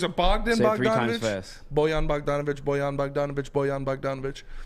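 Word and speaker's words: Bojan: bull gum how do you say that name boyan boyan yeah i say the last name bandage bogdanovic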